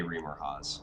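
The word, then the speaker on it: Remorhaz: That is the monster manual picture of a Reamer Haas. So. Okay. Rhymes with Santa Claus.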